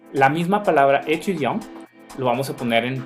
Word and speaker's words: étudiant: Pero aquí podemos ver algunos ejemplos, como por ejemplo étudiant. Étudiant, si se fijan, termina con T. Entonces no me pronuncien esa T, jamás. ¿Sí? Étudiant. Porque si me pronuncian étudiante, si pronuncian la T,